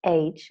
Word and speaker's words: H: So the letter H is pronounced H when we spell. And H, in H, you hear two sounds. You hear an A as in gray and a Ch as in chimpanzee.